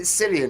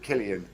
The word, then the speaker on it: Cillian: can we get this is it cillian or is it killian it's silly whose name is killian and it's spelled yeah